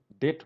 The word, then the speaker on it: debt: Okay, pronunciation is same because in that B will be silent.